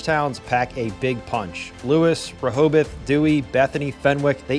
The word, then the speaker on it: Lewes: It's pronounced Lewis, by the way, not LSE like you might think.